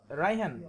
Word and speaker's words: Raihan: Yeah, Raihan. We called him Raihan. It's like the same. Ryan.